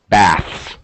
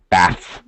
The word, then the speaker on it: baths: hard one right bath baths baths so actually because it's a little difficult it's important to pronounce the S less important to fully pronounce the th so it has a slightly reduced pronunciation bath bath okay that's